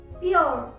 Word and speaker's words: pure: अगर आपको किसी वर्ड में URE लेटर कॉम्बिनेशन मिल रहा है तो आप उसे यूअ या उआ की तरह प्रोनाउंस करेंगे। जैसे CURE, क्योर, क्योर, PURE, प्योर, प्योर, मैन्योर। तो आपको इस तरह से बहुत से एग्जाम्पल्स मिलेंगे जहां पर URE का कॉम्बिनेशन होगा और उसे आप यूअ या वो की तरह प्रोनाउंस करेंगे। र बहुत स्लाइटली हर्ड होता है, बहुत कम सुनाई देता है।